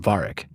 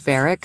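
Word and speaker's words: Varric: now would be about Varic. Varic. Did I say the name wrong? Yeah, it's Veric from Dragon Age.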